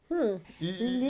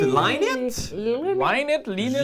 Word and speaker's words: Line It: L'init. L'init! Linit! Line it. J'imagine que l'init, c'est comme ça que vous allez probablement le prononcer.